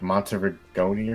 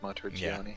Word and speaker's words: Monteriggioni: It's like Monterigoni or something, right? I think it's soft G, Monteriggioni. Yeah, I think so.